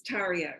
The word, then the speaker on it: Tayria: year her name is teri award have I pronounced that correctly yes it's teri how are ya thank you now I'll just